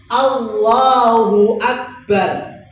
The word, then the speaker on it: Allahu Akbar: Allahu Akbar. Pertama tidak boleh dipanjangkan depannya, tidak boleh dipanjangkan depannya. Contohnya gimana? Allah. Hati-hati kalau dipanjangkan depannya itu artinya bukan Allah tetapi apakah Allah. Karena alif panjang itu sebagai istifham kata tanya.